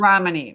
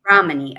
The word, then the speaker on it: Ramani: You said It's that you, Romney. Romney. Ramani.